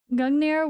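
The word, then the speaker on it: Gungnir: target hit G gungir gungir sorry not I was adding an extra syllable gungir will stay at the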